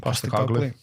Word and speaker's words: Postecoglou: Postecoglou.